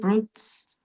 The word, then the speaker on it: fruits: A nossa tendência é falar fruits, né? É ver a a vogal ali. Fruits. Fruits. E é mudo, no caso, né?